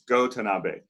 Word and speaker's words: Go Tanabe: I never slightly jump in and correct the pronunciation it's go Tanabe aha you I yeah I knew I got